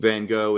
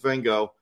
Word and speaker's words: Van Gogh: I was trying to figure out, I was like, is their pronunciation closer to the Dutch or is ours? And I went and I listened to the pronunciation and it is Van Gogh. And it is a thing that I'm like, I can't do what's happening there. So I'm going with Van Gogh.